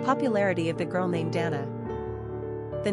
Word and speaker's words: Danna: Unlike Dana, which is usually pronounced either Dana or Danna, it seems clear that Danna would only be pronounced Danna, giving her a stronger, more masculine sensibility.